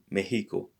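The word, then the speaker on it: México: in English here because Mexico takes an accent on the A on the E sorry Mexico and that was Mexico so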